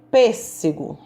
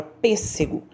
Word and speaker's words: pêssego: esperava o ônibus então pêssego quando eu pronuncio a palavra pêssego eu faço um som p segurou é pêssego eu fiz um som mais fechado então aí eu sei